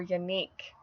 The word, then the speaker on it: Yannick: my last Dominic alternative I have is Yannick or unique this is a Breton form of the name John which means God is gracious of course I really strongly associate this name with my friend Amelia again who is everything baby names on YouTube she has a relative named unique with that pronunciation also an actor named